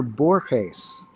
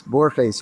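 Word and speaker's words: Borges: Ah, well, the great writer Borhees, Bor Luis Bourhees from Argentina, who's such a great terrific writer and his name is spelled B O R G- E S.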